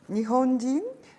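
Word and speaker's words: 日本人: Te va a preguntar después, Nihonjin, Nihonji, Nihon, Nihon, Nihonjin, Jin, Nihonjin, O sea, la Z no se pronuncia.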